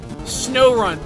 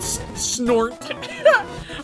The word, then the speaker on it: Snorunt: Snorunt, that's how it's pronounced, not snort.